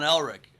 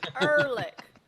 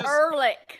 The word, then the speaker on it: Ehrlich: My dog looks a little bit like Sean Elric. You know what I mean? Ehrlich. What did I say? Rachel just corrected you on your pronunciation. What the fuck? It's Ehrlich.